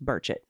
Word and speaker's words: Burchett: burchett's name is pronounced Merchant oh cool I said it right uh I'm sorry if I said it wrong before Kimberly we like to tell people it sort of rhymes with bird anyways